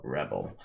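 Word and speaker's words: Rebell: It's actually pronounced Royale Rebel, and it's Rebel spelled with two L's, so it's almost like Bell with R-E before it.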